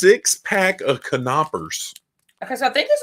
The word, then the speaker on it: Knoppers: It's a 6-pack of Knoppers. Okay, so I think this is one cookie. It is. Okay, so I thought maybe it was 2. It's Adam Bowman. The K is silent, apparently, like me on the phone.